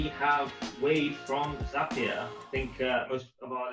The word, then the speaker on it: Zapier: And I'm like, on the footer of the site, it says Zapier makes you happier. I've spoken to Wade and he says it like that.